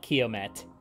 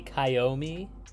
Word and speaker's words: Kiomet: believe squirrel mentioned that it was pronounced frenchly with a silent T so not KET which is how it's pronounced a lot and even I used to pronounce it that way maybe kyomi I don't know Ki